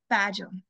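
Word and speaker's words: Bajau: I saying it right they're known as bajo yeah bajo that's correct and so and they're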